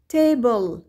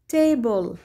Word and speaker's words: table: هنا لدينا كلمات تنتهي بحرفا ال L ويليه E، إذن ال E لا تلفظ، ال ال مثل bubble bubble وتعني الفقاعات، table table طاولة، needle needle الدبوس أو الإبرة، bottle bottle القارورة.